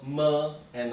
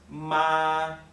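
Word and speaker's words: 妈: okay and it's pronounced ma okay and the first tone the first tone is a flat tone like this okay and so this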